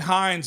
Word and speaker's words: Heinz: it matters and and Heinz will stick to of course that name was just I mean it's everything that you want as long as it's not hunts right that's true it's two syllables too that's the other thing